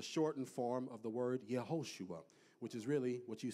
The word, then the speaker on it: Yehoshua: In the Hebrew, the term is Yeshua, which is a shortened form of the word Yehoshua, which is really what you see as Joshua in the Old Testament.